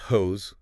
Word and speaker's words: Koos: So it involves this guy named Koos, that's pronounced Hose with a K.